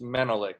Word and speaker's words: Menelik: Is it Menelik? It's Menelik, yes.